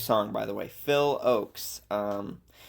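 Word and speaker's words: Ochs: Phil Oaks. Um Oaks is spelled O C Hs. Um not like the oak tree.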